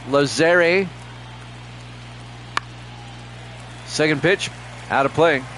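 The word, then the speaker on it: Lazzeri: there for a strike is it lazeri is that what you're trying to tell me a long a lazeri second Pitch out of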